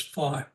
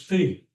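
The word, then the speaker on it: phi: And unfortunately some people pronounce this fee which offends me but it's common.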